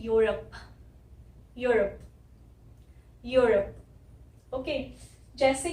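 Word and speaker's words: Europe: ओ की भी जो साउंड आ रही है वो आ रही है अ, और ये है यूरोप, यूरोप।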